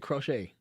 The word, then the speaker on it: Crochet: Like, oh, that's how you say it. Crochet. Garrett Crochet.